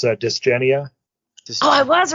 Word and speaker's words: Dysgenia: It's Dysgenia.